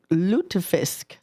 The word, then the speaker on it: lutefisk: want to talk about lutefisk. I know I'm probably not saying it right.